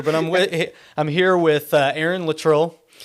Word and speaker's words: Luttrull: into it here, but I'm here with Aaron Luttrull. 2 T's, 2 U's, 2 L's. You got it. Yeah. And always mispronounced. Yeah, and I've been called everything. Did I do it right? You did. Luttrull is like that.